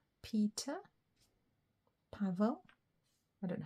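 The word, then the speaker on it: Paweł: if it's pavl or pow it's some it's European isn't it polish or something p a w e l is the W pronounced like a V I think it might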